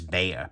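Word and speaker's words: Bexar: this is the tactile knives bear b-e-x-a-r yes it's a silly name yes texans i know it's the county that they're yeah i'm aware thank you very much still no one knows how to pronounce it outside texas so the bear here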